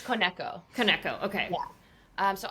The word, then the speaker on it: Koneko: or k sorry how am I meant to pronounce it I've been saying it wrong this whole time it's kco kco okay yeah um so I started working